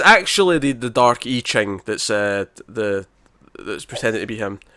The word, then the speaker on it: I Ching: That's how you pronounce it. I Ching, that's right.